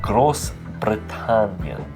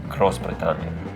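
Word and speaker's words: Großbritannien: love in Scotland but gross britan very good I probably wouldn't roll your RS as much like cross britan cross Branan cross britan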